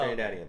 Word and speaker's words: Trinidadian: Like, she's Dominican and she's Trinidadian. That's how you say it, right? I don't know. Is it? Oh. Trinidadian.